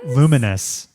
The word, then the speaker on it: Lumines: Luminous. It's not spelled right. Just don't ignore that's how it's pronounced.